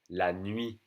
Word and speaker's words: nuit: La nuit. N-U-I-T. La nuit. We don't say the T for night.